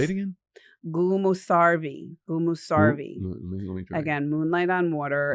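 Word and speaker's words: gümüşservi: So the ve is more like vumarvi.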